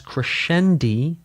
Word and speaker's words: crescendi: It is technically correct to pronounce multiples of crescendo as crescendi and multiples of diminuendo as diminuendi. This is because in Italian words that are plural usually end with an i like spaetto to spaghetti.